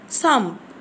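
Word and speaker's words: thumb: هنا نطق البي نطق خفيف بقول ثامب صمب صمب. اصبع الابهام صمب تي اتش يو ام بي تي اتش يو ام بي. اصبع الابهام صمب تي اتش يو ام بي. هنا طبعا التي اتش في الصوتيات بننطقهم سه, بقول صمب والبي نطقها خفيف صمب صمب تي اتش يو ام بي.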